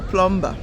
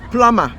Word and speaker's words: plumber: our people who say plumber no that b is silent it's plumber yes don't ask me